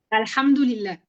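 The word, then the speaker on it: الحمد لله: Liha, fue lo que ah, me escribió nuestro alhamdulillah, querido Jorge. ¿Qué sí, significa, maestra? alhamdulillah. Pues gracias a Dios. Gracias a Dios. ¿Cómo se pronuncia? Sí, alhamdulillah, Alham, alhamdu, alhamdulillah, Alhamdulillah.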